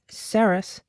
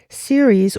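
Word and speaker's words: Ceres: Um you also have sus self-care wellness and agriculture but you know it is self-care. It is wellness but series or sus depending on how you pronounce it will be in cancer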